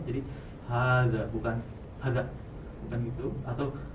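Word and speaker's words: هذا: H-nya itu panjang, za-nya itu panjang ya. Jadi hadza, bukan hadza, bukan gitu, atau hadza bukan, atau hadza, tapi hadza.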